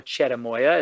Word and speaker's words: cherimoya: It has a cousin called cherimoya, or cherimoya is how it's pronounced.